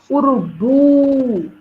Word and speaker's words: urubu: sílaba forte a última Urubu tem três sílabas o urubu para foi a sílaba forte pubo foi a última então é oxítona aí